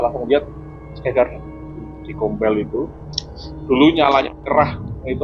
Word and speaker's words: Gombel: Gombel ya. Sebenarnya bacanya gombel apa gombel sih?